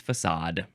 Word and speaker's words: facade: So, also for frontal number two, the synonym is the number one definition for the word facade, which looks like it's pronounced fade, but it's facade.